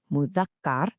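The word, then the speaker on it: مذكر: On the masculine side, we have mudakar, which is pronounced mudakar.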